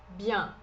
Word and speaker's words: bien: Bien. Bien. Esse EN é um som um pouquinho mais nasal, é um som parecido com o nosso som de A com tio.